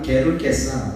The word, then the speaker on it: 게르게사: 그라사 지역, 가다라 지역, 그르거사라고 되어 있는데, 원래 발음은 게르게사 이렇게 해야 맞습니다.